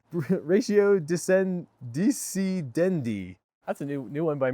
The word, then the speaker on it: ratio decidendi: Sprinkling your law school essay with Latin legal terminologies like non est factum, contra preferentum, ratio discendi... can't even pronounce that. Ratio decidendi.